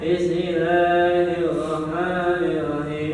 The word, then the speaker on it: Bismillahirrahmanirrahim: Contoh, Bismillahirrahmanirrahim. Kan di situ ada beberapa huruf dari bibir gua dulu, bis ke tengah lidah, Bismillah, ke bibir lagi.